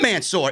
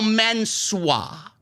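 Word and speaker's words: Mansoor: out comes mansour but his name is not mansour it's spelled the same way that you remember mansour being spelled m-a-n-s-o-o-r mansour mansour's new name is now ma menswa his new name is now menswear jesse issa said i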